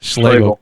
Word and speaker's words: Schloegel: Schlegel.